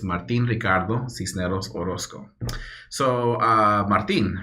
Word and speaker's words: Martin: So Martin, right? That's the way my mom pronounced it.